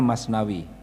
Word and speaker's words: Masnavi: Di sana fi itu dibaca w, ya. Masnavi tulisannya, bacanya Masnavi.